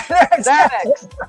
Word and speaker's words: Xanax: Oh, just like Xanax. Yeah. Xanax. Yeah, Xanax. So, you have the first one like a Z and the last one like a cook.